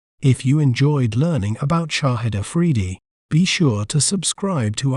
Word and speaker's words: Shahid Afridi: We may pronounce it as Shahid Afridi, Shahid Afridi, Shahid Afridi, Shahid Afridi.